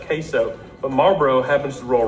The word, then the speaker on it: Marlboro: We pronounce it Marlboro.